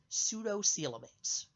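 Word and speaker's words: pseudocoelomates: o seal it is said to be a pseudo cielo mates PS e you do CE o e l o ma te s sudo Cielo mates and I'm looking at the handout I printed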